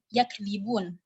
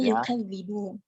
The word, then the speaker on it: يُكَذِّبُونَ: Pada lafaz yakdzibun, Ibnu Katsir membaca dengan dhammul ya wa fathul kaf wa tasydidul dzal. Jadi membacanya yukadzibun.